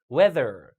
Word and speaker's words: weather: 자, th 발음이 weather가 아니라 weather. 혀를 윗니 아랫니 사이에 끼고 weather 이렇게 읽어야 돼요.